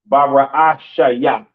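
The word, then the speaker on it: בראשית: In the beginning, Ba, Ra, Ah, Sha, Ya.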